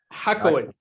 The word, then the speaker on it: Hacohen: Oh my goodness, did I butchered his name, but think of it as Cohen with a ha. So Cohen. Hacohen.